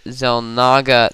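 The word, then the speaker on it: Xel'Naga: take the tower, the Zel Naga tower. And I don't know why is that pronounced as a zed? It's an X.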